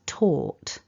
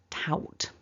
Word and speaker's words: taught: We're not doing anything to pronounce that. There's no G happening in this word. Remember, our pronunciation is taught.